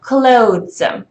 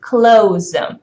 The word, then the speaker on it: clothes: You're supposed to be saying like clothes, or then you contract it to clothes. But from native speakers, you often hear it pronounced as close, like the door that you close.